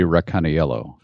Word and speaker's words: Racaniello: to be Racaniello. That's right. Yeah. After the five syllable.